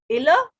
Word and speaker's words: ils: I told you a rule that whenever S is coming at the last in French, whenever S is coming at the last in French, we don't pronounce it. So that's why ILS is illa and ELLES is elle, because S is not pronounced.